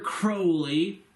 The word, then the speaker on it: Crowley: Aleister Crowley, it rhymes with magic unholy.